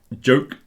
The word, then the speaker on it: joke: Three different sounds, and the ch, the last one, is an unvoiced version of the j on the first one.